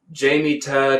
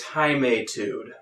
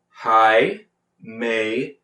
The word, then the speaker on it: Jaimetud: I keep hearing people pronounce it Jamie Tud or Jimmy Stud or Blimey Tud, Muddy Tud, I don't know. And let me clarify this, okay? It's Himeitude.